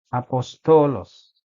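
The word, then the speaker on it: ἀπόστολος: memberikan aksen contoh e lihat pada kata ini apostolos di atas e huruf Alfa ini ada Kanda hembus halus atau koma e jadi kita membacanya apostolos tidak memberikan penekanan kepada eh Alfa berbeda dengan tanda hembus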